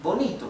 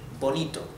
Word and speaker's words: bonito: than aoso it's pretty again here I want you to focus on the T and on the O's so not Bonito okay it's B also the t is to not to for pretty Bonito let's read everything once